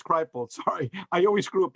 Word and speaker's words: Kripal: Jeffrey, I always mispronounce his name, Kripal. Kripal, I think it's Kripal. That's what it is, Kripal.